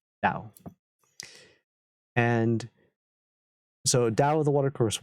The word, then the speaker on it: Tao: which is d-a-o and regardless of the case uh you pronounce it tau and so dao the